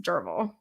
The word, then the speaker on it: Derfel: So it is spelled Derfel, but it is pronounced Derval.